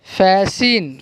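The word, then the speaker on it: fasten: ऑफन, क्या है, ऑफन, सॉफन, watch, match, Nestle, फैशन, फैसिन।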